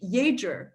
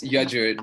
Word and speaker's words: Yajur: And Yager, you have did I pronounce it correctly? You have your hand up. So it's Yajur.